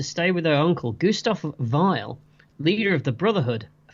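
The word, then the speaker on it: Weil: Vile. Vile, isn't it? Vile. It spelled whale, but it's pronounced vile.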